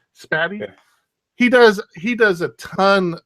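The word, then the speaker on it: Spatie: How do you pronounce that? S-P-A-T-I-E. Yeah, right. Spatty.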